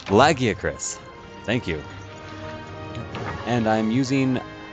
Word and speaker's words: Lagiacrus: of a monster whose name I can never pronounce lagiacrus Latakia Curtis lagiacrus thank you and I'm using an upgraded version